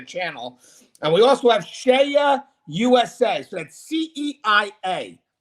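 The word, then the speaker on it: CEIA: and we also have shea usa so that's c-e-i-a that's how you spell it but it's pronounced shaya usa shea usa is the world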